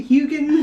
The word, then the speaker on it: Hugin: as well yeah I it's meant to be hugin like it is adorable